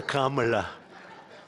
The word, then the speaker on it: Kamla: It's Cam, right? Cam as opposed to Com.